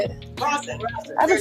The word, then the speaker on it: rosin: rosin.